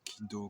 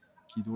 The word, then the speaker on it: Kido: Kido, la voix de l'arbre. Alors, ki, c'est l'arbre. En japonais, ça peut se prononcer ki.